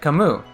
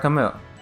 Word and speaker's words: Camus: I you know it's I said kamu like Albert Camus you know um yeah